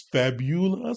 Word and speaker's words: Fabula: pronounce uh the name it's fabula we kind of really emphasize that you and then ultima's easy on that side uh but yeah we're